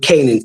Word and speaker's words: Canaan: And it says, we pronounce the first syllable in Canaan, ka, right? With the first syllable of the word Canaan, that K. But it says, yet the Jews did not so, but the Shiva joins the letter C and N into one syllable, making it Canaan, right?